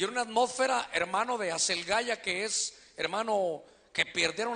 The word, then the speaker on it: Aselgeia: Y entonces se provocó un clima, hermano, de Asel, allá dice Aselgeía, pero la pronunciación es Aselgaya.